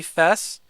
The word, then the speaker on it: Fes: You pronounced it like first half of festival supposedly. Her real name wasn't known. So Fes really? So I'm supposed I'm supposed to say Fes.